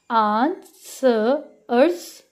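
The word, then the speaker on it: answers: जो W है हम इसकी साउंड को यहाँ पे क्या करेंगे? साइलेंट कर देंगे. ठीक है. आंसर्स आंसर्स question आंसर्स.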